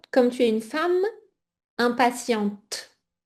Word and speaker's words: impatiente: Et attention, donc toi comme tu es une femme impatiente avec le T prononcé, d'accord ?